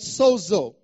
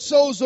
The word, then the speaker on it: sozo: in the past it's about the Greek word Soo uh if you want to spell it down write it down in English you